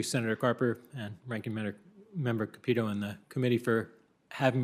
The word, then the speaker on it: Capito: Thank you, Senator Carper and Ranking Member Capito and the committee for having me here to testify today. Just for the record, we pronounce her name Capito. Capito.